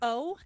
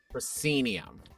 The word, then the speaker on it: proscenium: major let me use this please p r p-r-o-s-c-e-n-i-u-m proscenium proscenium that's a brand new word to my mouth people normally think about a theater right where you have like that frame around it yeah called the proscenium arch cenium ah add that to my personal